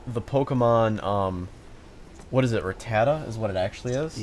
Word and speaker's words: Rattata: Yeah, Ratatat. And Yeah. then you said his name once. I'm like, oh, you're right. Like that's actually Yeah, it's how you Rattata.